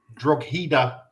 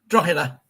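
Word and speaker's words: Drogheda: 28th of September 1983, Tottenham Hotspur 8 Dro United. Did I pronounce that right? Draa.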